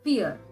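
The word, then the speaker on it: vier: pore is called as fear in the previous lesson we again learned that v is pronounced as f and i e is pronounced as e which means four is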